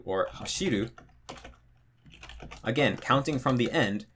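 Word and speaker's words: 走る: Then for 3-syllable verbs like taberu or hashiru, again, counting from the end, ru, be, the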